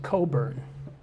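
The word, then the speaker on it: Cockburn: k bu r n Scottish pronounce it Coburn you can decide which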